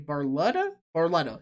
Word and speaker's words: Barletta: Barletta?